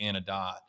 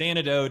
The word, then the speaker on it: Anedot: spells donate so um using the long o from donate carried that into antidote uh even though if you just read it phonetically it looks like it would be anodot uh so it's it's antidote and we serve you